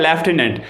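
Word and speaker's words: lieutenant: ल्यूटिनेंट क्या होता है, ये मेरी स्पेलिंग है ल्यूटिनेंट, बाकी इसको कैसे प्रोनाउंस किया जाता है, लेफ्टिनेंट। अब यहाँ पर कहीं एफ है ही नहीं, अब आप कहोगे कि सर स्पेलिंग में याद नहीं होती, नहीं होगी ना याद भाई।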